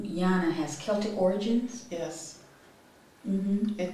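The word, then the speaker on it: Llyana: I think you were telling me that your name, Yana, has Celtic origins? Yes. It does. In English, it's spelled L-L-Y-A-N-A. The L's are silent.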